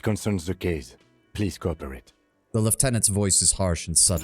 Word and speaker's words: Lieutenant: special in that regard you should pronounce Lieutenant as left tenant oh I could try